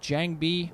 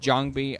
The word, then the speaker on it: JangBi: I'm pretty sure that in the correct Korean way, it's pronounced JangBi.